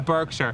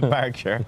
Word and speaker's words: Berkshire: that came in from Patrick Clerkin, apparently I pronounced it Berkshire in the intro. Beautiful Berkshire. I didn't want to pull you up there. Okay, here you go. What is it? Berkshire.